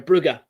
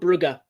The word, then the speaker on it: Brugge: Uh sorry, Bugger. That is how you pronounce it. Like not Yeah, a lot of people will say Club Brouge, but no, it's Club Ruger.